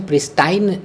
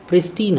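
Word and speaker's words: pristine: प्रिस्टीन, इसका pronunciation प्रिस्टाइन नहीं होता है, प्रिस्टीन होता है।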